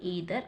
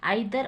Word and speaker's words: either: तब यहां पर हम इदर और यूज़ करते हैं तो ज्यादातर लोग आइ दर और भी प्रोनाउंस करते हैं दोनों ही करेक्ट है वो कुछ भी गलत नहीं है तो ज्यादा हम कौन सा एडवांस इंग्लिश में यूज़ करेंगे तो ईदर और बोलके आप प्रोनाउंस करेंगे ठीक है तो